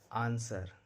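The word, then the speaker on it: answer: इसको शॉर्ट पढ़ा जाता है, यानी डब्लू का उच्चारण नहीं होता है। आंसर, wrong, wrist.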